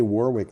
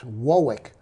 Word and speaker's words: Warwick: warwick in the uk and if you say warwick they laugh at you well it's it's not quite warwick it's wowick well i'm thinking rhode island oh okay the